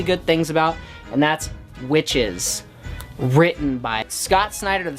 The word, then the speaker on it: Wyches: things about and that's witches written by Scott Snider the same guy who does the Batman series and this talks about witches but spelled with a Y so you know it's